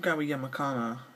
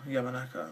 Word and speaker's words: Yamanaka: uh hiroki yamakana or it's very hard to pronounce some japanese names yamakana or yamanaka yamanaka that's the yamanaka versus another hard pronounced